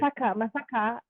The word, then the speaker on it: Masaka: Masaka. I'm probably saying it wrong in the Yeah, English no. way. You said it right. You said I'm it saying right. Masaka.